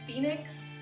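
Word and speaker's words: Faenyx: My other fin is Phoenix, but I spell it F-E-A. I can spell things. F-A-E as in Faye, and then N-Y-X as in Nix.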